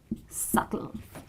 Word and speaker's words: subtle: to this word and this word is not pronounced as subtle it is subtle because BT are together and B is silent and the pronunciation of this word is subtle that's right now the